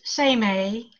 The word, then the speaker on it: Seimei: It's pronounced Seimei. If you think of it as S-A-Y-M-A-Y, Seimei is phonetically how we would look at it.